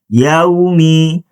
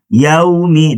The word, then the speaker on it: يَوْمِ: Maka cara bacanya adalah yaumi yaumi dan huruf mim.